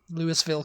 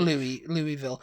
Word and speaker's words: Louisville: Louisville, Kentucky. Yeah. Louisville, Kentucky. I think there's some... It's Louisville, Kentucky. Louisville. Although, yeah, because I mean... people say Louisville.